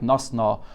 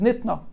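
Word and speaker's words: נִתְּנָה: But the Gemara knows that the right way to read the word in the Braise is Nitna.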